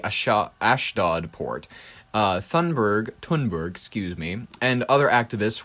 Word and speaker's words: Thunberg: In mid 2025, a climate activist, Greta Tunberg, I think it's Tunberg. I don't believe it's Thunberg because Thunberg, I think that the proper way to pronounce it from her country is Twinberg, joined a humanitarian mission